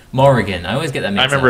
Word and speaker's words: Morrigan: It's not Morgana. It's not pronounced Morgana. It's very similar to Morgana. Morrigan.